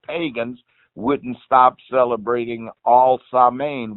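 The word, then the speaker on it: Samhain: wouldn't stop celebrating all sermon which is ALS am AI MP the way you spell it in English it was an old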